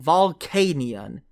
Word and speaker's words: Volcanion: want to know okay fine let's hear it volcanion son of a oh god how do i pronounce illumise illumises illamise illumizay got it right